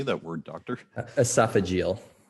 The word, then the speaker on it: esophageal: ESO how do you say that word doctor esophageal esophageal okay he's a specialist in h gastrosoph agal